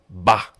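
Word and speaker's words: M'Ba: And his name is Jeffrey Ba, M''BA. I think the M is silent.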